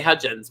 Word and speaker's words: Hudgens: i hope i'm pronounced i can never pronounce this woman's name vanessa hudgens right they say hudgins right and zac efron miley